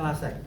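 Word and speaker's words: Lasègue: Eksortasi pemeriksaannya ini yang pertama namanya lasek que tes bacanya lasek di buku yo enten enten sama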